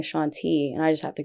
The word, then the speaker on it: Ashaunté: No one even knows how to pronounce my name. I don't even say it enough, you know? So like it's Ashaunté, not Ashaunté for everyone.